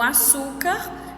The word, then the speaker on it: açúcar: E aí vai aparecer outros objetos, como o açúcar, que vocês irão poder estar utilizando. Vamos ver aí o açúcar. Na palavra açúcar, qual é a sílaba que eu pronuncio mais forte? Então, é o su.